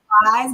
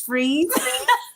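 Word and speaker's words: Fris: And so, because she was saying Fries, but it's Freeze.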